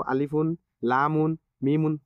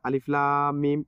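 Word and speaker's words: الم: হরুফে মুকাত্তাবার কথা বললাম এখানে তো আলিফুন লামুন মিমুন উচ্চারণ করা যায় না আলিফ লাম মিম এভাবে পড়তে হয় তাহলে এই বিষয়টি খুবই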